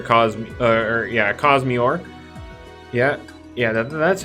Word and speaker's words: Cosmiore: to encounter a cause uh or yeah a cosmeort yeah yeah that's how you pronounce it cause me or yes and uh yeah now cosmeor is not